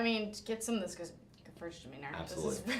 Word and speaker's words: Gewürztraminer: I mean, get some of this Gewürztraminer. Absolutely. It's super hard to pronounce. I know, it's super hard to pronounce. Gewürztraminer. I say just really say good. G and sneeze, and you're good.